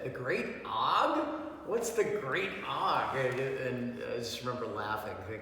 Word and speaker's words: Og: When I say the word Og, O-G, that's the way you pronounce it, what comes to mind?